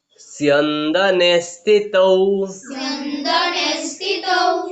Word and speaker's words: स्यन्दने: ततः श्वेतैर हयैर युक्ते महति स्यन्दने, सो आधा उसके बाद में क्या है, यो है तो क्या बोला हम लोग, सियो, सियो। उसके बाद में नो आधा है तो क्या बोला, स्यन, स्यन। उसके बाद में दो नो एक ही मात्रा, स्यन्दने स्थितौ।